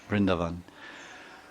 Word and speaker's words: Vrindavan: But specifically, there's a forest of Vrindavan, which is technically the right way to say it, Vrindavan.